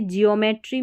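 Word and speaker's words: geometry: फिर है इ ओ इओ करके जैसे ज्योमेट्री में इओ करके पढ़ा गया। ज्योमेट्री है।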